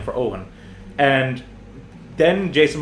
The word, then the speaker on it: Eoghan: down my name and for those who like are hearing Owen written out you might be thinking to yourself that it's spelled like o WN or something oh no it's like it's the Irish Owen Irish people we love